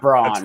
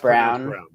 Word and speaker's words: Brown: It's spelled Brown. It's not Braun, right? It is Brown. Pronounced Brown.